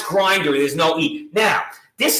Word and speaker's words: Grindr: pronounce this right we're gonna try it's called Grindr now how to spell that GRI and BR see I left out to eat you know pronounce Grindr there's no eating now this is the Brokeback